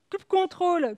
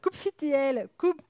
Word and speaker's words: kubectl: Chaque personne dans son monde a sa propre façon de prononcer la CLI de Kubernetes. Kubectl, kubectl, kubectl.